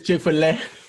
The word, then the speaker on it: Chick-fil-A: sitting on my front oh it's not like you said phillett i was like hold on now i'm gonna eat this chick-fil-a that's how they say it though chick-fil-a all right bro